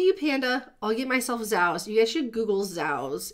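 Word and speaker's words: Zao's: Z-A-O apostrophe S. Oh, Z-A-O or Z-O-A? Z-A-O. Zao. Oh. Zao. I totally went Zoas. That's okay. I said Zoas.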